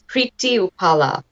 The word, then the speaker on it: Preity Upala: name right is it pretty how do you pronounce it namaste everyone namaste is really yes you did it's pretty Paulo how are you doing this lovely evening I'm